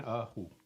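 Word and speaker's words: 二胡: She's playing an erhu.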